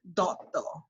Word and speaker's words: Dutta: And so, I mean, if you want to pronounce it the Bengali way, Dotto is actually the, I myself pronounce it Dutta.